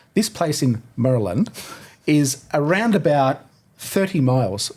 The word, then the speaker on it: Maryland: on us about was my pronunciation of Mryland. Now, I'm looking at it and it says Mryland. But what is it? It's Maryland. But how? I don't know, mate. They're out to get you. Don't you know? Well, I can't pronounce at the best of times, but yeah, Maryland is how you pronounce it.